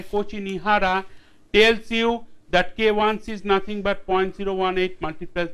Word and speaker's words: KIc: K1C, often the students pronounce it KIC, which is wrong.